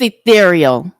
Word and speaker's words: E'Thereal: It's ethereal. I'll pronounce it for you.